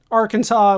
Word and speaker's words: Arkansas: Arkansas would be different, even though it's spelled Arkansas.